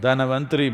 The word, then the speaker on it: Dhanavantari: North Indian people must connect, don't go on clipping away one syllable and come Dhanavantari becomes Dhan, Trayodashi becomes Tera. Don't keep clipping it away.